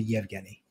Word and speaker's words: Evgeny: And it's spelled Evgeny, but we pronounce it Yevgeny.